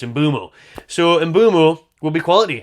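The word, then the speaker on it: Mbeumo: to go Brian mumo we did think it was uo by the way but he pronounced his name himself on Premier League so it's mumo so mumo will be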